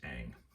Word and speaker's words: Ingres: And this is by an artist named Ingres, I-N-G-R-E-S, but it's pronounced Ang.